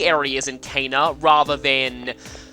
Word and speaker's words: Caina: Anyway, our next destination is Caina, I think that would be how it's pronounced. This, or Caina.